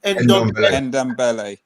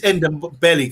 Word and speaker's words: Ndombele: So for me, it would be Pogba and how do you pronounce his name? Ndombele.